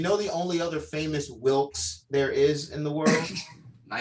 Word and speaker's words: Wilkes: So when people are like, "How do you pronounce Wilkes?" I'm like the guy who shot the president.